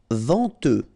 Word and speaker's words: venteux: Venteux, final X not pronounced, then EN, en, venteux.